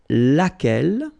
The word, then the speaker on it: lequel: singular we saw it lequel okay so basically same rule q is not pronounced here and then you get